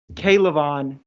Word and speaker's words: K'Lavon: all finished sir thanks kaylavon thanks amanda appreciate it caleb just for you all's reference it's k levon as in three syllables starts with a k so k levon chase on thanks david i appreciate